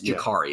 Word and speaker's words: Jacurri: It's Jacurri, as I've other people have been saying, and I've learned in the press box tonight is how you pronounce that name.